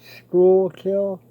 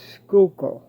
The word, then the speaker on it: Schuylkill: called schuylkill haven now some people pronounce it school kill and others pronounce it skulker however you pronounce it